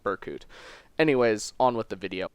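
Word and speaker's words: Berkut: I will probably pronounce his name Burkut throughout this video, so don't shank me. It's how I pronounce it. It's the phonetic pronunciation. There needs to be an umlaut there if I want it to be called Burkut.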